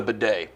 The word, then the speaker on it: bidet: The bidet. Yeah, it's very German. How do you spell it? You know how to spell it? I do. Go. B-I-D-E-T. Wrong. Really? Sound it out. B-A-D-A-Y, bidet.